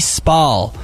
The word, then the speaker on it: Spall: Yeah, I'm not sure how to pronounce his name. Spall. It's Rafi Spall.